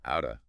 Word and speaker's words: out of: But that quick, almost flicking D sound in the middle, outa. Out of pocket. Yeah, it's a very quick, almost gentle D sound in that position.